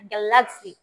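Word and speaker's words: galaxy: আচ্ছা, এরপর একটা গ্যালাক্সি, এক্সটাকে আমরা একটু ভিতরে নিয়ে গ্যালাক্সি, হ্যাঁ, জি এর মতো উচ্চারণ করি। হ্যাঁ, গ্যালাক্সি, হ্যাঁ গ্যালাক্সি, গ্যালাক্সি মানে ছায়াপথ, ঠিক আছে, গ্যালাক্সি।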